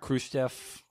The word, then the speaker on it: Khrushchev: They what was it, Khrushchev? Am I pronouncing his name right?